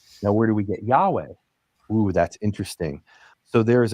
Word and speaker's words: Yahweh: In ancient Hebrew, it's believed it wouldn't have been Yave. It would have been Ya. Yahweh, right? The the H would be pronounced Yahweh.